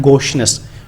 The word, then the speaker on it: gaucheness: गोशनेस, ये वर्ड की प्रोनाउंसिएशन है गोशनेस, GAUCHENESS, गोशनेस।